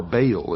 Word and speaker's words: Baal: For this is the only ancient portion, the beginning of the ancient worship of Baal, or Baal as some pronounce it.